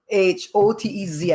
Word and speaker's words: Hotez: garrett and peter hotes h-o-t-e-z i think he pronounces it hotez peter hotes is a